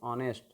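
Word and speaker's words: honest: सी इज, यहाँ पर इसको यदि ऑनेस्ट पढ़ते हो ह से तो फिर गड़बड़ हो जाएगा, इसको पढ़ते हैं ऑनेस्ट, और अ से जैसे उच्चारण होगा तो फिर आप एन का प्रयोग करेंगे।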